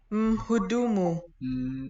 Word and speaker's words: mhudumu: Mhudumu. Is its own syllable.